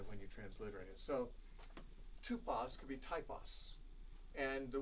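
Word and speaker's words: τύπος: the Bible a type it's the Greek word tupos you might spell it t p o the second letter in that in the Greek is the oon can be represented by the English y or the or the English U as in the word Suki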